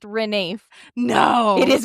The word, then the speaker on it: Ranulph: It's pronounced Renafe. No. It is pronounced Renafe.